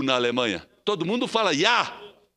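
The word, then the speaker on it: ja: alemão que tive que a palavra sim em alemão se pronuncia dizendo Ya mas no meu estado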